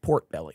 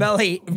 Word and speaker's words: Potbelly: I think it's pronounced port belly. No, Yeah, it's that's not what I heard. Potbelly. That's what I heard someone saying.